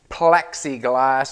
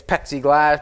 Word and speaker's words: Plexiglas: she said you know pepsi plexiglas is pronounced with an l and i'm just saying it the way i say it it's pepsi glass plexiglas whatever it doesn't